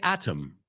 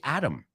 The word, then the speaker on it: atom: The British say atom. They pronounce a T like a T. We don't. Not always. Sometimes we do. But in this case, we say atom.